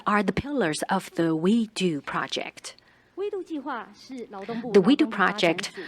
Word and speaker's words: WEDU: out up until today its acre name is w-e-d-u and the pronunciation we do sounds like we could do it so it